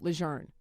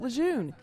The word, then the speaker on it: Lejeune: behind General Lzern and why the base should be called Camp Learn. Retired Colonel Michael Casperac spent most of his career in the Marine Corps saying Camp Leon. He says that's what he was taught, but he says Camp Leour now it's historically correct and it's consistent with